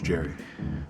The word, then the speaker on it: Jehry: Like, is it Jehry? Jehry? I think I've been saying it wrong. It's Jehry.